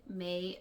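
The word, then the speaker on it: Mei: Yes, I was named after a Chinese woman named May Wong. But it's still pronounced like that month.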